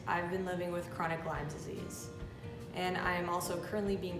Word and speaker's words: Lyme disease: how to say it it's lyme disease not lyme's disease there is no s and also lyme disease is a bacterial infection